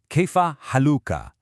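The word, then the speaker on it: كيف حالكَ: you say kaya haluka. Notice that short a sound at the end.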